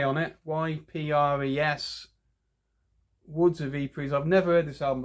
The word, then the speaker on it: Woods of Ypres: Now, I think you pronounce them Woods of Ypres. It's actually got a Y on it. Y-P-R-E-S. Woods of Ypres.